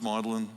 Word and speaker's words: Magdalene: College St John's uh Magdalene which they pronounce melin there and so forth uh